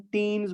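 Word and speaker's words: ctenes: और टेंटेकल के ऊपर जो आपके स्मॉल सीलिया लाइक स्ट्रक्चर्स दिखाई दे रहे हैं, इसको हम टीन्स बोलते हैं बेटा। सी साइलेंट रहेगा, इसको हम टीन बोलते हैं, ठीक है ना।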